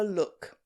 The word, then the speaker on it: Luk: Not long ago I made a short video reacting to someone called Summer Luk. Unfortunately I mispronounced his name in that video and called him Luck, and I'm very sorry about that.